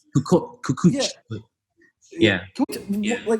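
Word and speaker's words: Kukoč: Are we pronouncing it right? Kukoc.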